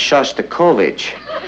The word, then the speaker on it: Shostakovich: voltage tonight I mean I think that's pronounced Shostakovich we would like to leave Eddie are you